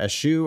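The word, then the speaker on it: eschew: staunch religious people might ESU alcohol ESU ESU it looks likeu is also an acceptable pronunciation oh okayu yeah ISU or ESU um but yeah it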